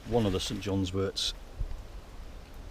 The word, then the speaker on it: wort: And this is one of the St John's worts, spelt W-O-R-T. Some people pronounce it wart, I pronounce it wort.